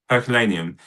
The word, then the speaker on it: Herculaneum: And you know, and is it how do you pronounce the one before it? Herculaneum.